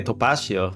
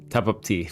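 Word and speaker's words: Tapatío: I can say topacio, but like it's how you're telling it to me.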